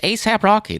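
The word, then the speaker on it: A$AP Rocky: pronounce pop culture thing it's not on s either it's just a it's just asap rocky that's what you've never heard the guy's name before no i don't listen to asap rocky's music but i know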